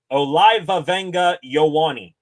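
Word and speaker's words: Olaivavega Ioane: His pronunciation of his name, Olivavenga Ioane.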